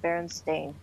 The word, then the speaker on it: Berenstain: haven't I know it's spelled Berenstein but you pronounce it Berenstain I know also universe in the echo universe